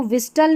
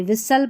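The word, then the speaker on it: whistle: अब इसको विस्टल नहीं पढ़ते। विसल पढ़ते हैं।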